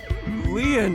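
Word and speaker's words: Lien: My name, Leon, is spelled L-I-E-N.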